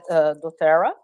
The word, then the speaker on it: doTERRA: And I know you work with a company called doTERRA. Is that how did I pronounce it Yes. correct? Okay. Yes. It's called doTERRA.